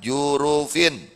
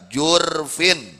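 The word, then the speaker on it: جُرُف: jurufin di pinggir jurang bacanya didahkan R jurufin wa suukuniha bisa disukunkan rnya jurfin makna jurufin ini janibin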